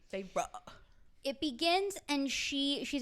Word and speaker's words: Feyre: that because the main character farra I think that's how you say her name farra it begins and she